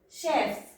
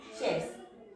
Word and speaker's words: chefs: Chef, chefs. We have to pronounce it as a chef. Chef, chefs.